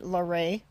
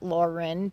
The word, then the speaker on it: Laurin: is a town named larae probably best known for its mispronunciation a lot of people call it Lauren but it's a French word so the largest ma